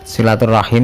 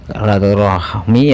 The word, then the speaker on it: silaturahim: Silaturahim itu yang benar menurut bahasa Arab, ejaan Arab. Tapi silaturahmi ya juga nggak apa-apa sih, nanti kita bahas.